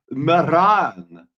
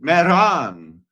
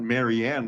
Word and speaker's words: Marianne: It's Maran. That's how the French pronounce it. Maran. It's not Marianne like we would.